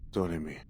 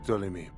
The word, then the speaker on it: Ptolemy: I've been trying to say his name with the letter P in front of it